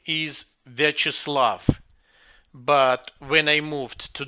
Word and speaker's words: Viacheslav: take a chance at so can you pronounce your name for us yes my real first name is virtuslav but when i moved to the us five